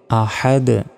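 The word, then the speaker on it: أحد: তো দালের উপর সাকিন থাকলে ধাক্কা দিয়ে পড়তে হয়। এটাকে কলকলা বলে। বলতে হবে আহাদ।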